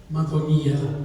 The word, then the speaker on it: Madonia: Madonia actually is the right pronunciation, I believe.